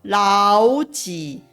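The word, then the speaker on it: 老几: 然而实际发音的时候，我们必须要发成 2 声跟 3 声的老几，否则会很难发音。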